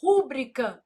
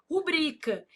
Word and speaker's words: rubrica: A pessoa vai lá e fala assim: "Rúbrica não, não existe, meu filho. Ah, mas eu não posso falar se eu quiser. Não, se você quiser, você pode falar, mas tá errado. O certo é o quê? Rubrica.